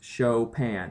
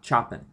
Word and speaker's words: Chopin: the author Kate chopan it is pronounced chopan not choen so you'll see here